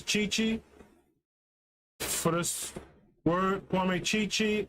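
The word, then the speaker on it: Gyekye: I think I was told before the pronunciation is Chichi.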